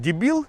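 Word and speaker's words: débil: Правильно оно с ударением стоит. Ударение важно в испанском языке. Дебил.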